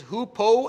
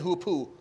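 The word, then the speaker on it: hoopoe: you'll find it and they pronounce it for you in the american and british accent so it's who po and who poo works both ways i didn't like hoopoo it sounded dirty so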